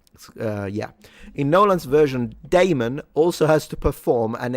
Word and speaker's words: Damon: It would have been enough to strap a Matt Demon. Damon. Damon. I always think I'm saying demon with a with an accent when I pronounce his name.